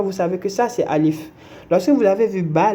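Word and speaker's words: ألف: Là, maintenant, vous avez vu Alif, vous savez que c'est Alif et vous savez qu'on la prononce Alif.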